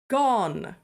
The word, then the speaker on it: Gone: says and tell him it's pronounced gone g-o-n-e and she closes